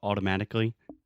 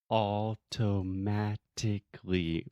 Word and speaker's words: automatically: So automatically, that's again the sound of T that we do not actually pronounce. We do not articulate the T's. We don't say automatically. We say automatically.